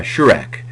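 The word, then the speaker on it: shuruk: can also piggyback something called a shurk uh this is not Shrek uh the uh character uh animated character but uh shurk which is a long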